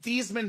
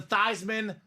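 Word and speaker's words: Theismann: Dam says Hey Joe let's change your name from theeman to thyman so you can be the Heisman trophy thyman for the Heisman did not win the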